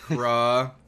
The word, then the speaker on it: crevasse: Crevasse. I just heard somebody say it. Crevasse. Hey, but I'm an uneducated mass. Crevasse. What the hell would I know? Crevasse. Crevasse. That's a French pronunciation.